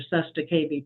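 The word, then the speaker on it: cestui que vie: walk in, they get $3.3 million off your Sesta KB trust. And I'll spell that for you if you want, but it's CESTUI space QUE space VIE trust.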